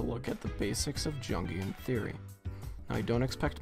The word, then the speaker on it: Jungian: idea that our subconscious junkian with a hard j i can't believe he said it i can't believe he said jungian the deep dark and